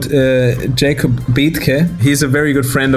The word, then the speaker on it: Betke: He's called Jakob Betke.